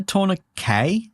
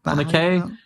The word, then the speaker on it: tourniquet: Isn't it a tourniquet? Isn't that tourniquet? Yeah, I guess you're right. That makes more sense. The T is silent, right? So yeah, I mean, I'm not flaming you for your pronunciation.